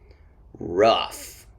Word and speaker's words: rough: a f sound but these o-u-g-h words sound like uh at the end a short u off rough which is the opposite